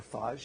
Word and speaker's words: phage: I had to teach my clinician collaborators first that bacteria had viruses and how you pronounce phage, or phage if you're French.